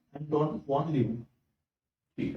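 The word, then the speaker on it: Leeuwenhoek: देखो, अगर आपको उसका प्रोनाउंसिएशन लीवनहॉक करोगे तो आपका स्पेलिंग करेक्ट आएगा।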